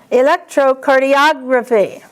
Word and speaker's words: electrocardiography: Now the accent changes. Electrocardiography. Electrocardiography.